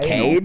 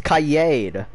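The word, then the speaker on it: Kaid: Wow, Javi, it's not Cade. Anal. It's Kayed. Kayed?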